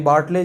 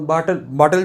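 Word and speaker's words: Bartle: बाटल जो है ना, इसको बाटले भी बहुत जन बोलता है, बट ये गलत स्पेलिंग है, इसको बाटले नहीं पढ़ना है। जैसे लिटिल होता है ना, लिटिल को हम लोग क्या लिटिले पढ़ते हैं क्या, तो ये बाटल है, ठीक है, RG बाटल, ठीक है।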